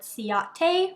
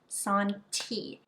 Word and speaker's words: Santee: that's how it's pronounced some reason I keep wanting to call it ciate which is not correct so if I do I apologize but I'm pretty sure it's pronounced Sun tea and similar to the